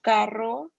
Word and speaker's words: carro: And then double R is double R, carro. That's where you have to really roll your R's, and it's a little